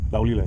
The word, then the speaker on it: Laulile: Laulile.